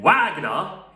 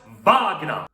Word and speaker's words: Wagner: It's not Richard Wagner, it's Richard Wagner. Richard Wagner. Because this guy came from Germany, and his name is pronounced as Richard Wagner.